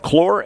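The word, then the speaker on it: Claar: Infield third to first Payton Nicely, Braden Haney, Nathan Cox, first baseman is Blake Clore. It's spelled c l a a r but pronounced Clore and I asked if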